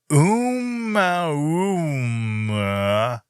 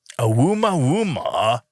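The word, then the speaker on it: ʻOumuamua: Oumuamua. Oumuamua. Here it is. I'm going to spell it out so you can try it at home or in the car, wherever you are.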